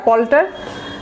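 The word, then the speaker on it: palter: পল্টার, হ্যাঁ উচ্চারণ দেখেন, PLTER, পল্টার।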